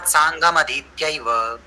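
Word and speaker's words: साङ्गमधीत्य: भाषा का नियम है म पूरा लिखा है म पूरा पढ़ना है तस्म सांगम अधित्यव तस्मात सांगमधित तस्मात सांगमधितव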